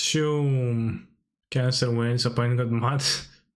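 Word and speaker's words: João: I know it's pronounced, is it pronounced Joao or How? Oh wow. I actually never knew because I never heard it spoken, just said, damn, this deck looks kinda not very great. I wouldn't play it. Joam? So I don't know if it's how to pronounce the J. Joam. Okay. It's pronounced Shum.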